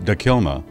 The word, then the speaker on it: Takilma: had similar cultures but they spoke different languages pronounced dakilma the native americans lived along the middle and